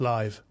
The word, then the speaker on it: LAIV: I guess that's pronounced live exactly and for the reason you would suspect live like live music or live audio okay and why I